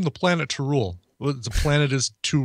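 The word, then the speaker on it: T'rul: Yes, T apostrophe RUL. Tarul. It does sound like a. Sounds like a Klingon, though.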